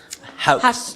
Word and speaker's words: Hauch: the first time again the pronunciation of the name is so it's a German name so that's why I moved to everything from hooch to house and all they things